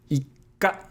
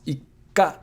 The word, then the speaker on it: ikka: But if you put a little tsu, it's pronounced ika. So there is a pause, ika, or a double consonant, ika. In this case, you're doubling the K sound because that's the consonant following the small tsu, ika.